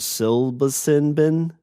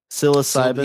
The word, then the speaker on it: psilocybin: even pronounce this word silva sinbin p-s-i-l psilocybin yes ivan psilocybin magic